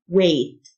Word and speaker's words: weight: الجه silent way وزن weight الجه silent weight ثقيل الوزن weighty